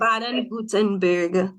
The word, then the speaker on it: Baden-Württemberg: How do you pronounce it? How do you say it? Baden-Württemberg Cooperative State Okay, University.